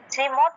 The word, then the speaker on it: শ্রী: উচ্চারণটা কি হবে শ্রী আমরা তো আসলে স্রী বলে ফেলি শ্রীয়ার উচ্চারণটা কিরকম দন্তস এর উচ্চারণ হলো স এর নিচে র তারপরে দীর্ঘ ইকার শ্রী এটা হলো শ্রী এটা